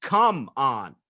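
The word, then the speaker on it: Kumon: cities they have those Kumaon learning centers and it's spelled K um oh and and they're like tutoring places but it's just come on like come on but it also come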